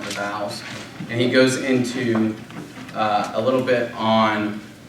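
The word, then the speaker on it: ἐν: initial H sound thus hin means one and is pronounced H and in means in pronounced in okay yes out to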